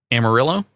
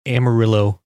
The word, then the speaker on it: Amarillo: given this logo it's almost as if they're trying to say don't pronounce the two L's so it's a Mario